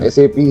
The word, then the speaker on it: SAP: एसएपी एक Germany company है जिसका एसएपी ही एक प्रोडक्ट है। वी डोंट कॉल इट और pronounce it एज सैप इट इज़ एसएपी।